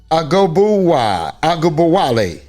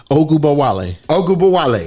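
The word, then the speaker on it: Ogunbowale: Arike Agubowale. Close. Yeah. Ogubowale.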